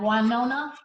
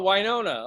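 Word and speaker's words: Wynona: My name is Winona. Is that, how do you spell that? Is that with an R? No, W-Y-N-O-N-A, like Winona. Oh, Winona.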